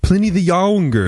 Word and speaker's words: Pliny the Younger: It's pronounced Pliny the Younger.